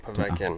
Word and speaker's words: Povetkin: The 15, obviously, we have Anthony Joshua versus, I can't pronounce that. 22nd, Povetkin. Povetkin, okay.